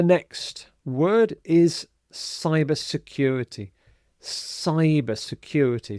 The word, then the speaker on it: cyber: Cyber security. So the C here is pronounced exactly the same as the S here. So not Kyber but cyber.